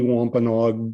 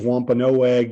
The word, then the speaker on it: Wampanoag: the news for example it's always with the a silent and so because people